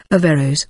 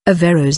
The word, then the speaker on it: Averroës: Averroës' name is also seen as Averroës or Averroës, indicating that the O and the E form separate syllables.